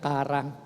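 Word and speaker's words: χαρά: Yun pong salitang joy sa Greek po yan ay chara or mas marami po ang nagpo-pronounce po niyan ng kara.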